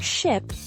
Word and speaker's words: ship: For ship, I it's shorter and more relaxed.